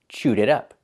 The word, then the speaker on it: chewed it up: The T in it is a fast D. It up. Chewed it up.